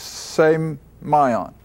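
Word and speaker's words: σημεῖον: always a sign now that's the way I get the pronunciation from from a Greek dictionaries same my on and it's should always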